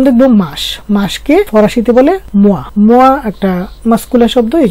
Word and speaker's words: mois: তো মোয়া বানানটা কি হলো, এম এর সাথে ও ই বসেছে, তো ও ই এর উচ্চারণ হলো ওয়া, এই জন্য এম এর সাথে ওয়া যুক্ত হয়ে গেছে মোয়া, ল মোয়া অর্থ মাস।